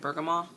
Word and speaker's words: bergamot: i'm pronouncing that right bergamot i don't think you say the tea but yeah it's amazing